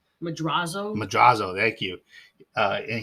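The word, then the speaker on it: Madrazo: a scene with Michael when he meets Mr mazura is that how you say his name madraso madraso thank you uh and he gets hit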